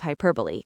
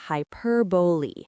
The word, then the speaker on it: hyperbole: Key number one, the pronunciation is hyperbole. It has four syllables and the stress is on the second one.